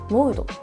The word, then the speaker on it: WOUD: Nó được phát âm là “Wood”. WOUD, và nó được phát âm là “Wood”.